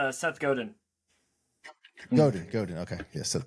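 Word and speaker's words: Godin: his last name j it's one as you read it but you never say it right yeah how do you how do you pronounce that no you nailed it Seth Goden Goden Goden okay yeah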